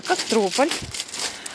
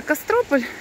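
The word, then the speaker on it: Кастрополь: Кто-то зовет Костропула, кто-то Костропула. Ну, ударение по-разному. Но так как это Кострополь, то Костропула.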